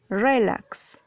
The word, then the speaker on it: relax: es una palabra aguda porque tú dices relax dices relax es una palabra aguda no puede ser una